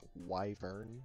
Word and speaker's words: wyvern: Did you know it's pronounced Wyvern?